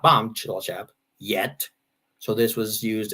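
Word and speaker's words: Cilacap: called chillichap tj in dutch is sort of the equivalent of ch and uh that was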